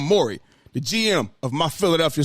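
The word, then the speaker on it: Morey: is that he said Daryl Moyer I'm sorry the GM I pronounced his name I'm sorry Daryl Mori the GM of my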